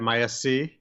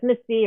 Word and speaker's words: MIS-C: analytic groups with uh how do you pronounce it misc or miss c right people refer to it as misty or misc and then in europe